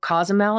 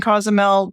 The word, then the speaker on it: Cozumel: So you just got back from Mexico, Cozumel, is that how you say it?